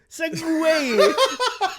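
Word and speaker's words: segue: Segway. And the way that Segway is spelled, it's Segu. You're a S-E-G-U-E.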